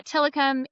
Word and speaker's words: Tillicum: So yeah, Tillicum, it's a real word. It's a Native American word.